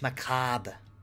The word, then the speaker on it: macabre: It's pronounced macabre. Come on, man. Get it right.